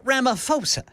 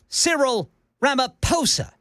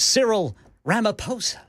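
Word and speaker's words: Cyril Ramaphosa: It is Sirill, but the last name is not Ramoposa. Uhhuh. It is Sirill Ramaposa. The H is silent.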